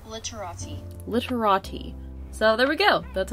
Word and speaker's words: Literati: okay so i've been told that it's actually pronounced literati literati so there we go that's how it's actually